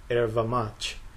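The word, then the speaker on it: erva-mate: here on my right, that one is called Erva Mate. That's how it's pronounced in Brazil, or very similar to that.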